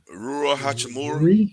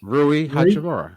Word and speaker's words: Rui Hachimura: Rui Hachimura. Rui Hachimura. Yeah, it's pronounced exactly how it's spelled.